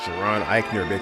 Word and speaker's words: Jaron Ikner: It's pronounced Giron Iikner.